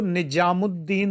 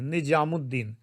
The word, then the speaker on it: निज़ामुद्दीन: लेकिन अभी संपा ने जो गाया, मुझे नहीं पता वो कहाँ की है, मैं खोजूंगा, तो वो निजामुद्दीन औलिया बोलती हैं, निजामुद्दीन, निज़ामुद्दीन शब्द है, निजामुद्दीन बोलती हैं।